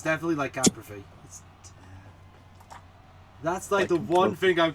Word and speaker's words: lycanthropy: It's the pronunciation I'm unsure of, but I also don't think I'm pronouncing it right either. No, you're not. It's definitely lycanthropy.